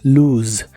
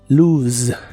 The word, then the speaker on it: lose: de inglés es luz la letra o de esta palabra se pronuncia como una u larga o doble y la s suena ligeramente vibrante como si fuera la z inglesa la e del final es muda como de costumbre en inglés Lu Lu y la puedes usar